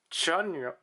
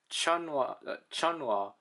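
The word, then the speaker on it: Chenle: Chunwa is how you're apparently supposed to pronounce his name. This is going to be the first time I'm going to actually try to correct myself. Chunwa, because the issue here is that the E's,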